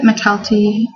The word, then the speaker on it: McElty: names um for example mcelty yeah that's how I pronounce it macalty McKenna I don't know